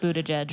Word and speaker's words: Buttigieg: Holding up a picture of Pete Buttigieg right yeah. now. I think it's yeah. pronounced butt gig. It's not. It's Buttigieg.